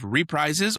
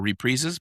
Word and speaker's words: reprises: We have reprises or reprezes. Both pronunciations are correct.